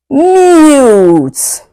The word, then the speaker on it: mute: We have two vowels here, uh U and E, right? Yes, U and E. Whereas, you can hear the first vowel sound U. The second vowel, which is E, goes silent. Mute.